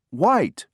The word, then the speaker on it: white: l e did you Circle H number three white white w h i t e did you